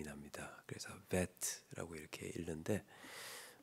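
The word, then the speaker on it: בית: 어 예 베트라고 읽습니다. 어 그런데이 모음 표기가 되어 있을 때는이 베안에 점이 있을 때는 B 발음이 나고요. 그 베트로 점이 없을 때는 V 발음이 납니다. 그래서 베트라고 이렇게 읽는데 어 오늘은 이제이 베트 어 의미로는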